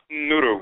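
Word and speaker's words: Nnuru: In the Asante Akan dialect of the Twi or Akan language, the plural is written and pronounced Nuru with N-N-U-R-U, Nuru.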